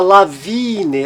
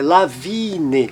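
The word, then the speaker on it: Lawine: Do mesmo modo, veja, na palavra lavine, lavine, como ele tem um som mais alongado, porque ele é seguido de apenas uma consoante, lavine, som longo.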